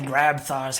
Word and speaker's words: Grabthar: Wait, how is it pronounced? Grabthar? Grabthar? Yeah, by Grabthar's hammer.